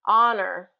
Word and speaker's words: honor: Honor, honor. So this one's interesting because it starts with an H in its spelling, but that H is not pronounced. So we start really with a vowel sound.